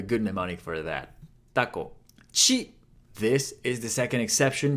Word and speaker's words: ち: Chi. This is the second exception, hiragana. Instead of a T sound, it's a chi sound.